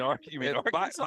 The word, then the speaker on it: Arkansas: You mean Arkansas?